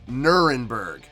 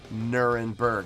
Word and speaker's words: Nuremberg: actual pronunciation is nurnberg english conventional is nuremberg so that's what they're most well known as is nuremberg from what i understand